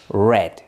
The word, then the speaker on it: read: en el caso de read leer el pasado se lee de la se escribe de la misma manera pero se pronuncia diferente read leer cierto El pasado es red ya pero se escribe igual